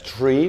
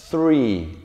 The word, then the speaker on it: three: No es tree, porque tree, si no pronuncio la Z y digo tree tratando de pronunciar la T, estoy diciendo árbol, ¿sí? Esto es three, very good, three.